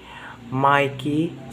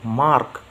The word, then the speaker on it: Mark: Sorry, Mikey, you say? No, Mark. M-A-R-K. Oh, I see you don't pronounce the R.